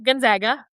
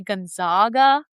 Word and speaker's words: Gonzaga: Gonzaga. Oh, cool. Okay. Yes. You'll hear on the news or on like they on ESPN they always say Gonaga, but it's not Gonzaga, it's Gonaga.